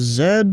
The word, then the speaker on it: Z: 120.5 joining the game Canada Z is pronounced as Zed well I'm American I'm